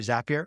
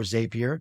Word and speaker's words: Zapier: just being Zapped in and out there through zapier or zapier depending on how you want to pronounce it but like the access points aren't